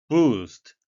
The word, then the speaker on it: boost: boost 발음에 위하셔서 되겠는데요. 장음으로 확실히 해 주셔야 이해가 되겠습니다.